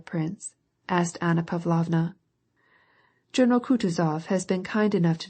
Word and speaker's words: Kutuzov: asked anna pavlovna journal kutuzov has been kind enough to desire me as his aide to comp he spoke in french and accented the last syllable of kutazov's name like a frenchman elis votrefem she will